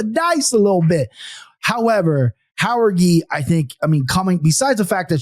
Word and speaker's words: Jauregui: So I'm going to take Jauregui. But you're very comfortable pronouncing the name.